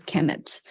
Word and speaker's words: Kemet: km Mt um actually um spelled just uh pronounced as Kemet but it's actually written kmmt and um the